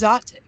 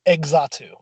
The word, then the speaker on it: Xatu: The evolution of Natu. It's Zatu. Oh, thank you. I don't want to hear that pronunciation ever. Wait a minute, Ty, can you say it one more time? Zatu. Zatu. Okay. Okay, the way we all three say it. Good. I know somebody who pronounced it Exatu.